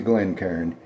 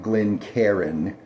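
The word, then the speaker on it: Glencairn: This is a Glen Karn. Some people call it Glen Karen. No. C A I R N. One syllable.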